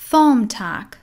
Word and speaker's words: thumbtack: Thumbtack. Thumbtack. این کلمه بی توش تلفظ نمیشه، حرف ب خونده نمیشه.